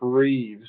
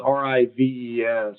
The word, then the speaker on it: Rives: The guy that did it, his name's Chip Reeves. I think I'm pronouncing the last name right. It's Rives.